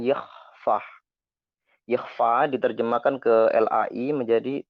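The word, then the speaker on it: Yahweh: Jadi begini, kalau YHWH itu kan nggak ada, itu kan disebutkan Yahfah.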